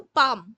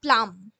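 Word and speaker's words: palm: এটার উচ্চারণটা কিন্তু পাম, নট প্লাম।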